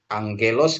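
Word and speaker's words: ἄγγελος: Itu juga jadi guri ya, vegari agelos itu angelos gitu sering diucapkan. Tapi kalau dari bahasa desainnya itu agelos gitu ya itu malaikat ya.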